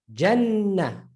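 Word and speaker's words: جنة: is pronounced in Arabic, it will be pronounced as, listen to the N, right? In the Jannah. Jannah. Listen to Jahannam. Jahannam. Jannah. Jahannam. Look at the difference. So it doubles the letter.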